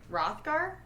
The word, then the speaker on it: Rothgar: man named rothker rothgar rothgar that's how i would say that the age is silent yeah that's how i